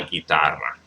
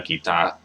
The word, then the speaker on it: guitarra: La guitarra. Got to roll the R's. I do kind of slip, slack when it comes to rolling my R's sometimes. So la guitarra. La guitarra.